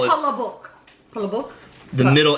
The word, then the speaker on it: Palabok: Palabok. The middle L is the most. There's the most inflection, the most involvement in the middle L. Palabok.